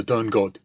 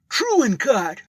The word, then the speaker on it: Turncott: Turncott. It's still spelled the old way, but my name is pronounced Truencott.